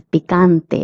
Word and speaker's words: picante: Next word is picante. It means spicy. Pante. The ca is pronounced as ka.